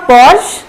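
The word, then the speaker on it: Porsche: तो देख के तो ऐसा लग रहा है कि ये होगा पोर्शे या पॉर्श, तो देख के तो ऐसा ही लगता है, बट इसका प्रोनाउंसिएशन होता है पोर्शा। फिर से बोलिए आप, पोर्शा।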